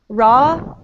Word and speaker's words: raw: Raw law. Ra. Ra. Law. La. Good. And Ra la. good. And how is this W pronounced? We don't pronounce. Yeah, it's almost like it's not there.